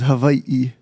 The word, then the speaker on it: Hawaii: so much okay so you're you're you're from Hawaii yep but it's not the right pronunciation let's let's talk about this yeah yeah well the correct pronunciation is Hawaii Hawaii yeah because you know I said as